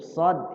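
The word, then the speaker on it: صاد: Nah, huruf shad, ingat, shad salah satu huruf hamas sama dengan sin, saat dibacanya keluar. Dan saat membacanya itu shad itu tebal. Dia tempatnya sama dengan sin, cuman bedanya saat baca shad itu tebal, ditebalkan. Ya. Dan saat baca shad itu mulut kita nggak monyong.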